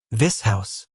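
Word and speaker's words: Vishous: This house.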